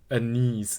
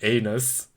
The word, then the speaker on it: anise: I don't like anise, which I've only recently learned that it's pronounced anise in English because I've always pronounc pronounced it anus.